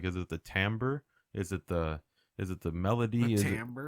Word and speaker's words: timbre: You know, like the timbre of your voice. Like All right. like if you're doing a falsetto or like a, you know, Yeah. timbre. It's spelled Timbre.